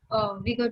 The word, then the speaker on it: Uyghur: Uyghur pronunciation. I have no idea. It's Uyghur Muslim. Uyghur.